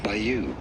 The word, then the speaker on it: bayou: Now in American English this is usually said as bayou. Bayou in American English, Bayou. or bayou in British English. Bayou. All of this from French, bayou. So the British pronunciation is way closer.